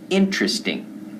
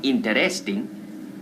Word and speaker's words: interesting: the park that's right we say interesting not interesting interesting interesting interesting things here in the park